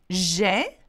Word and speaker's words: j'ai: J'ai and je. Two different things. So here we go. J'ai, a sound, and how do you pronounce je? Je. Okay? Can you see that? So you shouldn't struggle with that. It's quite, you know, quite different sound.